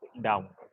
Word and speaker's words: đồng: The real pronunciation is Dong.